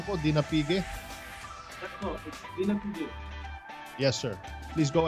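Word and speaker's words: Dinapigue: Tama po ba yung pronunciation ko, Dinapige?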